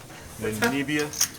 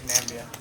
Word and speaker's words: Namibia: Are we pronouncing that right, guys? Namibia?